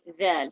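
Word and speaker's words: ذال: But in the Arabic language, the letter dha, to place your tongue, touching your top teeth, and you have to say dhal.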